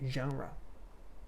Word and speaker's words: genre: to that you would get it wrong so genre that's the way to say it next one